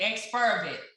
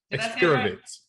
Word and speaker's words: Exspiravit: You shared the correct enunciation and pronunciation. Right. Still haven't gotten it yet. Exspiravit. Exspiravit.